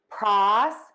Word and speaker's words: prosecute: For prosecute, we're going to stress that prosecute. Unstressed middle syllable, and then we're going to end in cute, like you are cute.